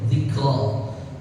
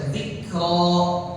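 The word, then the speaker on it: ذكرى: Jangan ditambahin seakan-akan ada huruf hamzah. Jadi zikra ro tapi ro. Beda antara ro dengan ro. Tapi ini bacanya gimana ya? Zikro. Ro zikro tuh ya alusnya. Halus. Tapi kalau misalnya kayak orang baca zikqra ah itu menambahkan hamzah gitu.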